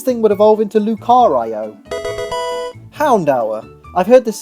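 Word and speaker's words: Houndour: the case this thing would evolve into Lucario Hound hour I've heard this said as hounder and hounder you could even argue that Hound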